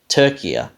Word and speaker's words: Türkiye: said becomes Turkey right sort of rhymes with sturdier turkia now that's definitely not